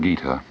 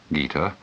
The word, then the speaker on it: Gita: In 1925, Mahatma Gandhi wrote the following words: "I find a solace in the Bhagavad Gita that I miss even in the Sermon on the Mount.